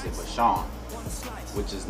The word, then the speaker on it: Vashun: So, and I just put the spin on it of how I spelled it, V-A-S-H-U-N. And 3-4 months now, it's just funny because a lot of people pronounce it Vashun, which is not, I don't even know why